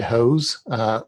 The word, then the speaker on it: Hoos: can do that on twitter i'm at hoes last name is spelled h-o-o-s don't know why it's pronounced that